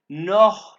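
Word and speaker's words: noch: माल बेटे नो माल ये सी एच जहां भी आएगा इसको ख की आवाज पर कहेंगे ख नोख माल पिटे पिटे मीन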